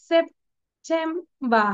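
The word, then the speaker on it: September: দেখো সিলেবল যখন সেপ বলছি তখন কিন্তু পির উচ্চারণটা শেষে আসছে, তাই না? সেপ, এটা শেষ হয়ে গেল, তখন আমরা এটাকে আর সেপ বলবো না।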